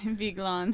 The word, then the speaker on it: Vigeland: Yeah, the way we would pronounce it is Vigeland. You know, at least that's in my dialect, but.